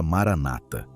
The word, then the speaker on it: Maranata: A primeira palavra é aramaica. São 4 sílabas. Ma-ra-na-ta.